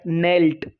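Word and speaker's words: knelt: यहाँ पर ये दिख रहा है, ये नेल्ट वर्ड आया है, तो ये यहाँ पर नेल्ट है, तो इसमें के साइलेंट है।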